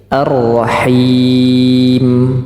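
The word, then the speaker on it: الرَّحِيمِ: ni ni dibuka baik arrahim sama rnya juga tebal himim nah kekeliruan yang sering terjadi juga ketika huruf mimnya sudah sukun tetapi tidak terdengar suara mengalir himim tidak terdengar suara mimnya himim nah mestinya Dia sedikit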